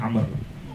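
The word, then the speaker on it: عمرو: Kalau ada wawunya di belakang ro, bacanya Amr. Kalau nggak ada wawu, bacanya Umar.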